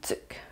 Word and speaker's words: tuque: Ça s'écrit tuque, une tuque, mais on prononce une tuque.